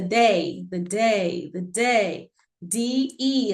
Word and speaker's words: de: D-E is pronounced day.